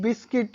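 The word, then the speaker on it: biscuit: Next is बिस्किट, यहाँ पर भी सी यू आई, यू के बाद आई वॉवेल आया है इसलिए यू साइलेंट है।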